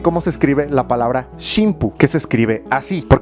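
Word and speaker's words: 神風: Y precisamente por eso Inoguchi utilizó la pronunciación shimpu, que sería algo así como los vientos divinos, es decir, el grupo de viento divino. De otra manera, si le ponían camicase, sonaría algo así como los milagritos.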